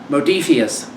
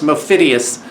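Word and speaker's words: Modiphius: is that oh no it's uh modifius uh who i have historically mispronounced mophidius uh and then legendary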